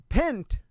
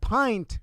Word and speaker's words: pint: that their teachers have taught them the word pent instead of pint for a term of a volume of water. Yeah. Uh and uh so instead of using the term pint, they pronounce it pint. And very the soft eye instead of the hard eye.